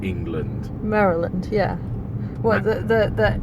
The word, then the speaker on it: Maryland: at the end okay Maryland Maryland yeah Maryland it's not Maryland no it's Mary Lun no Mary Linn no Marilyn it's not a series of women no Maryland Maryland but the cookies